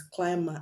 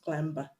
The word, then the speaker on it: climber: climb to have climber you always pronounce the word as climber and not clamber even though the mb